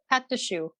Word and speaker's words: choux: say is you made choux pastry yeah shoe at the shoe there we go i probably